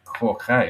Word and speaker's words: Corchach: I thought it was BB of Cork, but it's Corchach.